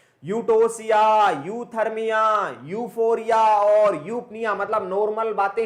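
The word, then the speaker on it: eupnea: तो बात को समझ जाना, जहां जहां पे यू आता है मतलब ई, यू यू ई यहां पे साइलेंट रहता है। यूटोसिया, यूथर्मिया, यूफोरिया और यूपनिया मतलब नॉर्मल बातें हैं।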